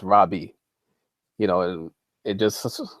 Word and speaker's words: Rabbi: a hebraic term which properly is pronounced Robbie you know and it